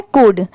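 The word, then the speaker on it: could: यहां पर लिखते टाइम तो हम सी ओ यू एल डी लिखते हैं। बट पढ़ते टाइम सिर्फ इसे हम क्या पढ़ते हैं? कुड।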